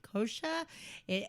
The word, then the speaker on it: Koczur: And for those listeners out there that are trying to figure out how to say kosher or spell it, it is Koczur.